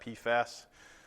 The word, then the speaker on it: PFAS: what that stands for pfas you would pronounce that pasas because there is also a pasos so you can see